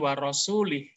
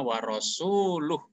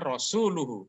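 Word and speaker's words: وَرَسُولُهُ: karena air membacanya keliru membacanya bukan warosulih yang tepat membaca ayat ini adalah annallaha barium Minal musyrikin a warosuluh Sesungguhnya Allah dan rasul-nya berlepas diri dari orang musyrik ya tadi rasul-nya rosuuluhu bukan rosulihi kalau rosulihi dan ialah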